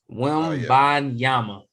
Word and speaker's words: Wembanyama: How you pronounce his last name? Wembanyama.